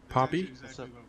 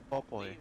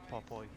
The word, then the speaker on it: Popoy: This means there's, hey, Poppy? Popo? How do you say your name? Popoy. What's up? Popoy? Oh, so it's like a play on Popeye? Yeah, like Popeye, but Popoy.